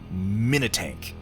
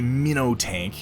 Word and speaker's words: minitank: has by the way it should be pronounced minitank don't say mino tank minitank if you say it quickly enough it sounds badass white wolf i'm telling